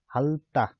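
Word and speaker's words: 핥다: जस्तै हाल्ता, हाल्ता, हाल्ता भनेको चाहिँ चाट्नु, अर्थात् यो थको उच्चारण किन गरेन भन्दाखेरि योसँग जुधेर मैले अघिल्लो भर्खर पनि भनिसकेँ।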